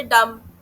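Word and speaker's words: dumb: इसके बाद तीसरा चीज क्या प्रॉब्लम आती है कि इसमें साइलेंट वर्ड्स आते हैं इंग्लिश में जैसे डम। डम में बी साइलेंट हो गया। ठीक है?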